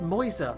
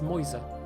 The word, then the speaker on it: Mäuse: It's Mäuse. That's the one bit of German I know is how to say mouse in plural. Mises. Yes. Definitely. Anyway.